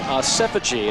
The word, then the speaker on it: Asefogee: There is Moses Asefogee, spelled differently than the way it's pronounced, but I have clarification. It is Asefogee, a 6', 228-pound senior out of Nashville, Tennessee, a 3-year starter.